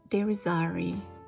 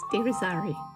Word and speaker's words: Deirisarri: Now, it sounds completely different in Spanish. Mi nombre es Deirisarri. Yes, with all the tongue rolling you are capable of. Deirisarri.